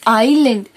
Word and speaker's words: island: It is not island, it is island because the letter S is silent.